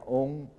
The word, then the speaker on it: 嗡: 你们课本上那个念成什么？念成安。为什么变成安呢？因为唐代的翻译密宗梵文发过来嗡那个字念嗡。